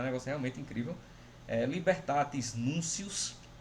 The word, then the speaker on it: Libertatis Nuntius: Libertatis Nuncius, se escreve Libertatis Nuntius.